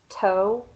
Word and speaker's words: toe: less and with the last one toe your tongue is behind your teeth and your vocal cords